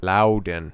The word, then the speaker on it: Loudoun: Somebody very astutely pointed out that there's no extra N in there. I'll do my best to try to properly pronounce that, because words matter. Loudoun.